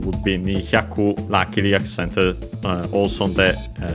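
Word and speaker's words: 二百: 200 on its own would be Nihyaku, luckily accented also on the ku at the end, on the final syllable, just like Hyaku on its own.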